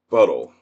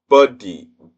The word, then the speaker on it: Budde: asked for mercy, and it's Bishop Marianne Buttle. I think I'm pronouncing that right. BDDLE. I think that's it. Or Buddy. Budde. That's her name, Marianne Buddy Bishop.